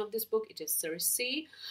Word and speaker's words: Circe: It is Circe. I know that in Greek it is called Kirke.